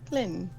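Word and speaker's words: Hlin: it however you want it's like lin with an h clin okay colin trollbane okay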